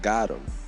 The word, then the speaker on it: GOTM: He says it's pronounced Gotham, like got him.